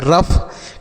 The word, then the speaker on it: rough: R से हो गया रा, OUGH को अफ तो हो गया रफ।